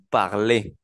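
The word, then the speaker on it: parlent: como acabo de mencionar la e la n y la t no se pronuncia entonces digo par igual que par del primero par del segundo singular y par del tercero singular como pueden darse cuenta el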